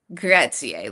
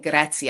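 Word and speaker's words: grazie: I'm thinking just make sure you say Gracier like Messier and is instead of saying I kept saying Graatzia and they were like no that's like a a name. You're saying it wrong. You're trying but you're saying it real wrong. And then but if you say Gratzi they'll literally just like spit in your food and be like okay get out of here.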